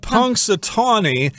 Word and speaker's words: Punxsutawney: very funny name how do you say it Punxsutawney yeah the only reason I know how to